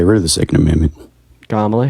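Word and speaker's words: Kamala: of the Second Amendment kamla Harris first of all is how you pronounce her name and second of all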